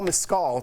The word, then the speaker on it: Mescal: So according to Deadline director, Ridley Scott is in talks with Irish actor Paul Mescal to play Lucius, who was the nephew of Commodus, played by Joaquin Phoenix.